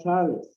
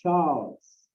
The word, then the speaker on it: Charles: It says Charles, it's not Charles. Charles is the way we pronounce it in Spanish. In English, it's Charles.